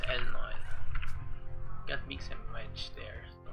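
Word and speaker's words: Elnoyle: It's pronounced Elnoil.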